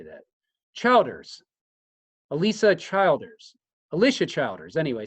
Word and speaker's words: Childers: is it CH how do you say that Childers Alisa Childers Alicia Childers anyway c h i